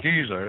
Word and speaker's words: Giza: Yeah, it's pronounced Giza.